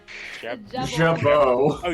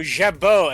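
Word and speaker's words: jabot: heard that word before ja oh Jabo an ornamental thrill or R the yeah jao it's French an ornamental thrill or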